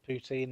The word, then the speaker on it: poutine: I'd love to try like a proper poutine and things like that. Poutine, not poutine.